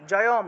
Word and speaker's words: জয়ম: রূপম দেহি, জয়ম, জয়ের পরে অনুস্বার আছে, অনুস্বার থাকলে ম হয়, তাহলে জয়ম অর্থাৎ হসন্তযুক্ত ম।